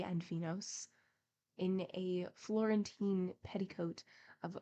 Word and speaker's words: Venus: and the other Venus for these read Phoebe F IBI and venos that we may conform to English pronunciation Phoebe cooked Venus scrubbed